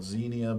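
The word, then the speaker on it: Xenia: Um, and the relationship is called Zenia, by the way. Um, X N I A is how that's spelled.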